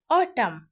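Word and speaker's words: autumn: उच्चारण नहीं होता है फिर से समझिए अगर किसी शब्द का आखिरी अक्षर एन हो और उसके पहले एम आया हो तो एन का उच्चारण नहीं होता है जैसे ऑटम ऑटम मींस होता है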